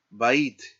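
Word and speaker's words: בַּיִת: Bait, bait.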